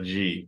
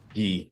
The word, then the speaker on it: gi: Yeah, a G, new G. For, a new gi? Gi. Is that how you say it? Gi. Gi? G. No, gi. G. It's gi. Gi. Gi.